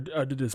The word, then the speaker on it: Adidas: It was vividly blue, like hardcore, like bluer than Adidas's shirt right here. Or Adidas, my bad. I mispronounced the name.